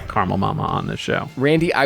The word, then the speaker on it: Caramel Mama: Because you were sick of hearing people pronounce it caramel. Which I just did up in question 1. For whatever reason, I was like, let me say this that way. Just- Okay. It's caramel mama.